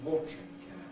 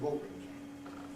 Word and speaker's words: watering: Standard received pronunciation, watering can. Same compression, but London watering can.